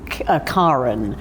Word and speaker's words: Karen: Um, but my mother lived in Germany long enough to pick up the the the name Karin, which is the pronunciation in Germany, but also in Scandinavia.